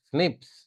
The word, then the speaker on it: SNP: a single base difference single nucleotide poly Mars we call them as are pronounced as Snips they have only single